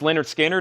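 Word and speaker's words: Lynyrd Skynyrd: Leonard Skinner, pronounced Leonard Skinner, is $38.99.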